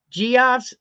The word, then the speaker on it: Geoff: Geoff's, I pronounce it Geoff.